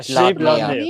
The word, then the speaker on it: Skidbladnir: Skipbladler. There we go. say that again. Skipbladler. Sheep-blooded. ship, Sheep. lad, near. Yeah, Skidbladnir. Skidbladnir. Ah. Skidbladnir. And that's spelled, I have to spell it now.